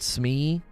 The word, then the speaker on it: SME: that term got it we pronounce it Smee like I I really